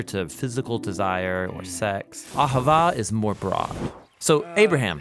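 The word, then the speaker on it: אהבה: languages as it is in ancient Hebrew it's pronounced aava it most basically refers to the kind of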